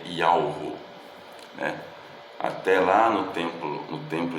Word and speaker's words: Yahweh: o que sou, mas a pronúncia do tetragrama sagrado, que são as 4 consoantes hebraicas do nome do Criador, que é Yud, Ve, Vav, He, se lê Yahweh, né?